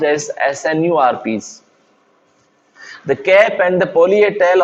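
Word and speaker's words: snRNPs: rna enzymes called smaller nuclear ribonucleoproteins or rnps pronounced as snu rps the cap and the polyethel on the mrna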